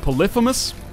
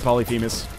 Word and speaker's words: Polyphemus: do have polyus so apparently it's pronounced polypous I don't know I I've always said polyphemus and by all cat